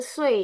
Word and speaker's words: 岁: 20 岁，20 岁，20 岁, bukan si ya. Karena20 S kan juga dia harus dibacanya dengan E.